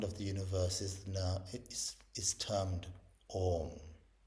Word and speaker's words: Om: Because Om has 3 parts, or rather it has 4 parts, but the first 3 parts that you can hear is the A, U, and M.